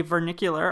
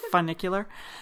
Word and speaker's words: funicular: said like that so we took a vernacular up its Avenue cooler is like a bus not vernacular fun knick Euler so I always forget how to say it funicular and it's like a